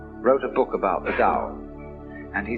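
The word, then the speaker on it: 道: called the dao tao pronounced dao in the mandarin dialect tao in the shanghai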